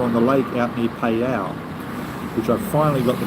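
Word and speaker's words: Phayao: two serpents are on the lake out near payal which I finally got the pronunciation correct P which is uh between here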